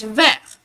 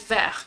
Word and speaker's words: vert: And green in French we pronounce it as vert. So once again the T becomes silent, so you pronounce it as vert, not vert.